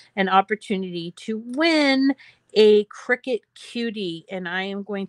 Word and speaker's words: Cricut: that the name is pronounced cricket like like a bug instead of cry-cut or whatever else they